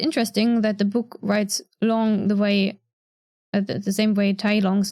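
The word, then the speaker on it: 龍: I find it interesting that the book writes long the same way Tai Long's name is written with a U, despite the pinyin and the pronunciation using an O. So it's written Lung but pronounced Long.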